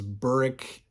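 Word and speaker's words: Burrich: just a personal preference I like the way that uh Paul baimer in the initial farseer series pronounces things like Burridge in ketricken and uh I maybe LinkedIn pronounces them correctly or the preferred way but he says burrick and katricken and I I don't know I don't like that but I like his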